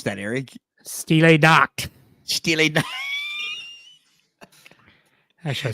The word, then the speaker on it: Stille Nacht: Winter Wonderland versus, how do you pronounce that, Aric? Stille Nacht.